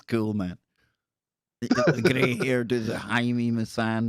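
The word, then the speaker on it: Jaime Maussan: man here does it haimi masan dang that's how you pronounce it i have hours and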